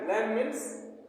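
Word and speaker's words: lamb: नहीं होगा लैम क्योंकि बी जो है साइलेंट है बी का उच्चारण नहीं किया जाता है अब नेक्स्ट वर्ड है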